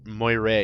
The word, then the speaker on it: Moira: Moira Moira is how it's pronounced.